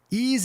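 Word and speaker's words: Eaze: Ease is happy to be celebrating June as Pride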